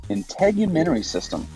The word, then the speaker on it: integumentary: humans have in common integumentary system it's pretty difficult to pronounce word just break it on syllable by syllable in human Tory system integument is just a